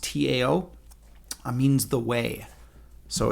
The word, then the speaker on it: Tao: And by the way, Tao, which is pronounced Tao, means the way.